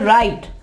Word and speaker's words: write: यहाँ पे E को नहीं पढ़ा जा रहा, राइट नहीं कहेंगे, राइट E नहीं कहेंगे, यहाँ पे हम कहेंगे राइट।